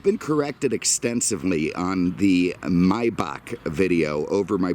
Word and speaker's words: Maybach: Apparently I was saying Maybach. Well, here's the issue in my mind. It's spelled Maybach, okay? If you want something pronounced a certain way, then spell it correctly. If you want it to be Maybach, then get rid of the A in there, okay?